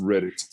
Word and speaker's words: Redditt: so old it's it's Reddit like the website Reddit it only has two